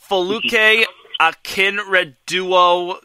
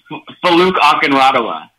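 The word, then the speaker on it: Folake Akinradewo: Faluke Akinreduo Gunderson. Did I pronounce it right, or feel free to correct me? Faluke Akinradawa.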